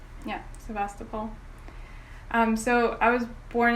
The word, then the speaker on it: Sevastopol: that you spent your childhood in if i pronounce it correctly i hope sevastopol yeah sebastopol um so i was born in sebastopol and